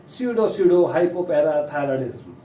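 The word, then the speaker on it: pseudohypoparathyroidism: तो इसकी प्रोनाउंसिएशन है स्यूडो हाइपोपैराथायरॉयडिज्म।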